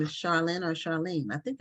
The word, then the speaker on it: Sharlyne: cat yeah so welcome now your name is pronounced Charlene Charlene Darlene okay yeah it could be either